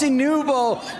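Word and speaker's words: Nwpo: How do we say Noob? I mean, you you can hear the audience is chanting his name right now. It's Nouvo.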